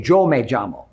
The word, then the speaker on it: yo: half Puerto Rican and in traditional Spanish when you say my name is you say yo May y for yo L for yamo being Puerto Rican in our Puerto Rican dialect we say joj with a J sound instead when the Okana were